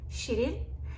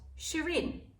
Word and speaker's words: Shirin: So how you pronounce my name in Turkish is Shirin.